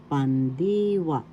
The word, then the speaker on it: pandiwa: conjugations verb inal is pandiwa pandwa first syllable second syllable d third syllable wa the accent is in the second syllable pandiwa so we say pandiwa